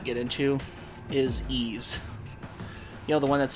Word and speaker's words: Ys: Like one one franchise I will not get into is Ease. You know, the one that's spelled Y apostrophe S.